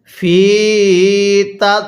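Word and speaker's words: فى تضليل: এরপরে আমার সাথে পড়ুন ফিতা ফি এর মধ্যে টান দিবেন পড়ুন ফিতা আরেকবার আমার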